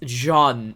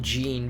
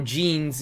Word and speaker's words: Jean: It's Jean, not Jean, because, you know, every time I see the word Jean, it's called Jean or Jeans, you know, but like in French it's Jean.